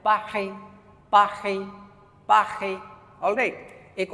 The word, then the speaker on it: Paris: English में भी pronounce पेरिस, but French वाले प्रोनाउंस करते हैं पाखे, पाखे, पाखे.